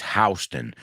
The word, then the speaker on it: Houston: it's really interesting because it's spelled exactly the same as the city in Texas where Richard was born Houston right in fact when we say that famous movie line we say Houston we have a problem but the name of the street although it's spelled the same is hon just an FYI because